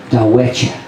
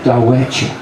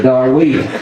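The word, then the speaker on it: Darwettia: it's spelled D-A-R-W-E-T-T-I-A, and the Choctaw pronounce it Dawecha. Now I love that. It sounds so romantic, and it just rolls off the tongue, Dawecha. But them Oklahoma hillbillies turned it into Darweeta.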